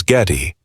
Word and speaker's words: Geddy: It was always pronounced with a heavy Polish accent as Getty.